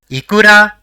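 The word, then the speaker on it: いくら: So, it will be pronounced as Ikura, which means how much.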